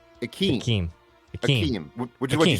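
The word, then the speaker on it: Ikem: So yes, so the first name by the pronunciation guide, capital EE hyphen small KEHM. Akeem. Akeem, which is what you said, right? Yeah, Akeem.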